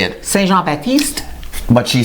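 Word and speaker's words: Saint-Jean-Baptiste: Saint Jean Baptiste.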